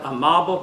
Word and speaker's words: Amable: His son, Amab, it looks like Amable, but I was told the correct pronunciation is Amab Bertrand.